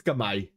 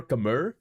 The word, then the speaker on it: Khmer: I would say Bohemians versus Kamai. Kamai or Khmer. I like to go for the Kamai pronunciation.